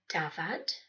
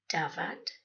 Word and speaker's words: dafad: One F is always a V sound, while two Fs make the F sound, as in dafad, sheep, dafad, dof, tame, dof, ceffyl, horse, ceffyl, coffee, yeah, that's coffee, ffrind, friend, frind.